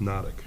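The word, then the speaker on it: Hnatuk: Pronounced Nodic.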